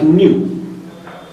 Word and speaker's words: nu: Another term we define as frequency, and this frequency is denoted by nu. It's a Greek symbol. We pronounce it like nu.